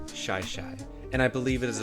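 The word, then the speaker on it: Shi Shi: the shaishai beach trail some people call it shishi but i believe the correct pronunciation is shy shy and i believe it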